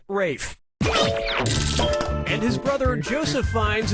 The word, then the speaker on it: Ralph: one yep RAF Fine's first name is spelled like Ralph but pronounced Rafe and his brother Joseph